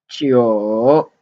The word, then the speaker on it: 九: And next one, 九, 九, 9, 九, 9 in third tone.